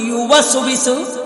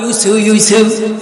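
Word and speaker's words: يوسوس: আমি কই ইউওয়াসউইসু, চাচা কই ইউসু ইউসু।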